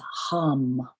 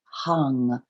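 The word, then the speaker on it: हं: we're going to repeat the bija seed mantra which is hum h-a-m but when we sing the mantra it's pronounced hung h-a-n-g so three hums taking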